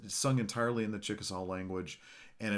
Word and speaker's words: Chickasaw: Well, traditionally it's Chickasaw, but we say Chickasaw now.